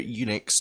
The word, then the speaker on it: Enix: Yeah, I can't pick up any of them because Square Enix took away all their games off of GeForce Now months ago. Enix, not Unix. Whatever.